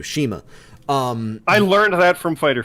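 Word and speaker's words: CIMA: Is it Sema or Shima? Shima. Thank you, Shima.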